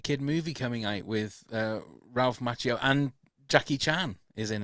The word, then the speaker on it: Ralph Macchio: Miyagi, because if Ralph Macchio, is that how you say it?